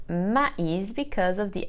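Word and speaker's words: maïs: so we must say de arico con is pronounced ma'is because of the accent called trema on top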